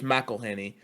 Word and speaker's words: McElhenney: Oh, by the way, it's McElhenney, and I only know that because that my principal's last name in high school is oh pronounced the same way.